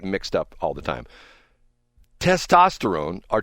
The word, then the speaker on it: testosterone: Testosterone or tsesterone.